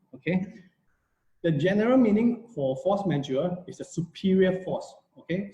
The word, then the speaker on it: force majeure: majeure this is a latin word you can pronounce with me if you if you like force majeure force majeure yes okay if you have you can pronounce